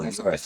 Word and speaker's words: Urus: A Urus to drive? Oh, Urus.